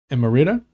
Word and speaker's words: emerita: Now, a distinguished professor emerita?